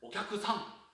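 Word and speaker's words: お客さん: 쿠 다음에 사시세도 사행이 오면은 앞서서의 쿠는 묵음처럼 들릴 듯 말 듯. 박자는 가져가되 발음하는 거예요. 그러니까 우리가 일본에서 저기 손님, 고객님 이렇게 얘기할 때는 오캬크상 이렇게 안 들어요.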